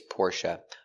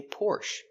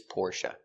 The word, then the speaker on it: Porsche: Stress on the first syllable.